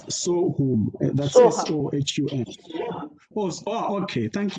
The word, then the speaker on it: Sohum: in Sanskrit, but he says, in Hindi, it's Sohum. That's S-O-H-U-M. Oh, okay. Thank you for that. Because I didn't know how to pronounce it.